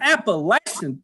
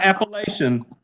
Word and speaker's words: Appalachian: It's not Appalachian. Yeah, it's not Appalachian. It's Appalachian. Anyway, Appalachian.